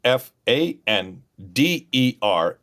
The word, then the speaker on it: Pfander: P Fan Der F I L M S. So Fander named after Dr. Carl Fander, starting with the P.